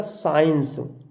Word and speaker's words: science: सी साइलेंट यानी कि एस के बाद आया सी साइलेंट होता है। अगर एस के बाद में कहीं भी किसी भी वर्ड में अगर सी आए तो वहाँ पर हम सी का उच्चारण नहीं करते। जैसे हमने कहा साइंस, SCIENCE, साइंस। यहाँ एस के बाद में सी आ रहा है, हम यहाँ पर सी का उच्चारण नहीं करेंगे, साइंस।